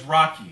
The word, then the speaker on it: Rocchi: evening and it's true my name is rocky it's spelled rocca childhood it's pronounced like rocky and let me tell